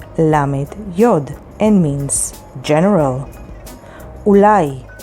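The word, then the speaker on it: אולי: with haf lamid lamet yod and means general ulai spelled with vav lamed yud and means maybe tioul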